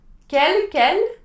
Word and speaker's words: quel: So in this case, you would say quel, all pronounced the same way, but quel with Q-U-E-L.